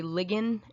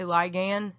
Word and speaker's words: ligand: vocab word so you might have heard him say ligand which is not how I pronounce it I say ligand but just get used to it it's the same word